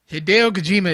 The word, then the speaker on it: Hideo Kojima: He's being Hideo Kojima is.